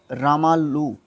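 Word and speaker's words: रामुलु: थे, है ना, उन्होंने श्री रामलल्लू के नेतृत्व में, रामुल्लू सॉरी प्रोनाउंसिएशन में थोड़ा सा हो जाता है, इनके नेतृत्व में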